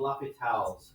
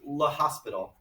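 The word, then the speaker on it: L'Hôpital: Indeterminate forms and this thing called Lhopitals Rule. Now, What is first? it's this guy. His name is Lhopital. Yeah. Lhopital. That's how you pronounce his name.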